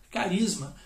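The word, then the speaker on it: χάρισμα: efésios né vai estrear palavra carisma ou charisma né se você quer a brasileira ch rs.na a pronúncia correta seria então carisma o que seria esse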